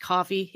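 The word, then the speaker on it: Ko-fi: coffee oh it's um maybe it's pronounced coffee it's k-o-f-i it's like uh a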